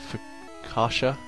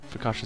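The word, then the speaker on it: Fuchsia: down and get in for kasha that's how you pronounce it city because i think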